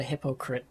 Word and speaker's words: Hippocrit: Yeah, go subscribe to Hippocrit YouTube. And it's spelt like hippo as in hippopotamus and crit as in critic.